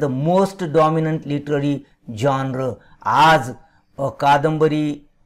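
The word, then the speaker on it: genre: जॉनर म्हणजे साहित्य प्रकार याचा उच्चार जॉनर आहे लक्षात ठेवा जी इ एन आर इ असं त्याचं स्पेलिंग आहे त्याला साहित्य प्रकार आपण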